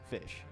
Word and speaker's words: ghoti: the word goatee it's Ghoti equals fish how do we pronounce the word goatee the answer is fish how can goatee and fish sound the same gh equals F in rough o equals I in in women and TI equals in